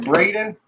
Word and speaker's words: Breydyen: Is it still pronounced like Braden?